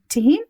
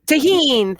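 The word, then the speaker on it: Tajín: Tahini? Tahine.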